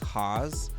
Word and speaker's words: Hawes: Because my last name is Hawes. And I always get challenged on how to tell people how to pronounce it. So I'm like, rhymes with pause or whatever.